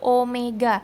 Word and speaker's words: omega: melingkar berarti kecepatan sudut lambangnya yang kayak wek tadi tapi bukan Wei acara Bacanya adalah Omega satuannya adalah Radian per